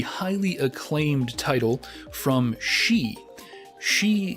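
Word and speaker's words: Sidhe: She is spelled S-I-D-H-E, and from my research it is a Gaelic word, which is the language of the Irish.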